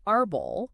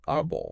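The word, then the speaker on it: árbol: psychology exactly that's the opposite so the word Aral Aral meaning tree yes would need a till because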